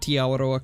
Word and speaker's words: Awaroa: I got a lot of help from you guys on pronouncing Awaroa correctly.